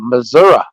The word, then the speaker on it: Missouri: they were talking about Missoura and I'm like why do they say Missoura when it's spelled Missouri I'm not in Missouri